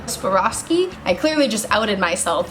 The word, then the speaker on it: Swarovski: i'm not going to say it right savas suaveroski suavrosky swarovski i clearly just outed myself as not a